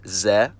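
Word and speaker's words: з: It's found in every cerillic script using language, it's called Z, and it takes the sound of the English letter Z. To remember the pronunciation when I see it in a word, I always think of a middle-aged Slavic man driving a BMW Z3. Z.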